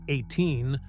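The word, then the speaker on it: A'TIN: These fans who called themselves Ain, pronounced 18, saw more than just a talented group.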